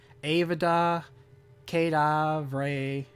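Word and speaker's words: Avada Kedavra: way to annoy people Avada kedav Ray that's that's right right that's that's the bad lad and that's how you say it well now you get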